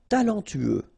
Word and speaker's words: talentueux: Talentueux. Final X not pronounced. Then you get this U together. Then TU, tueux.